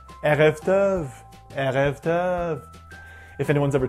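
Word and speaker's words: ערב טוב: Not too far back or too strong in the throat, otherwise you might get a French accent. Erev Tov, Erev Tov.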